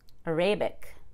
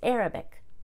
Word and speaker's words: Arabic: if we followed the rules it would be arabic but that's not how we pronounce it it's arabic catholic but let's pretend it's a noun catholicism